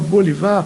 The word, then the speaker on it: Bolivar: um chapéu Chique né Falo Bolivar porque embora seja homenagem ao Simon Bolívar é francês e a pronúncia é francesa né tem que no original também ele rima Bolivar com Boulevar eu tive sorte de